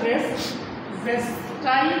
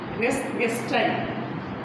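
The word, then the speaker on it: res gestae: ছয় থেকে শুরু করে 11 পর্যন্ত এখানে আসছে রেস গেস্টাই নামে একটা নীতি আছে রেস গেসই কেউ কেউ বলছে রেস জেসটাই কেউ কেউ বলছে রেস জেস্টিয়া এরকম এটা বিভিন্ন বিভিন্ন উচ্চারণ করা আমরা উচ্চারণ করে আসছি রেস গেস্টাই জি এস টি এ জিনিসটা খুবই সহজ বিষয়।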